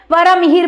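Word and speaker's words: वराहमिहिर: वरा मिहिर बोलते हैं इनको। इनको वरा मेहरा भी बोलते हैं। जैसा आप प्रोनाउंस करना चाहें आप बोल सकते हैं।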